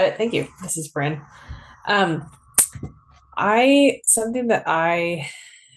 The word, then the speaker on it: Brynn: Please go ahead and please correct me if I'm pronouncing your name wrong. No, you got it. Thank you. This is Bren.